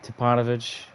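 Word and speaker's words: Stipanovich: team Collide the Glide Drexler Dale Ellis Steve tupanovich that's how you pronounce it thorough Bailey Jeff Malone I don't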